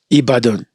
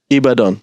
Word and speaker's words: Ibadan: do you how do you say it again ibadan ibadan yeah or your state yeah yeah so I'm